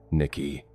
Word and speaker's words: Nikki: he said my name, Nikki, two syllables. The way he always said it, slightly flat on the second one, the way Cheyenne boys say names.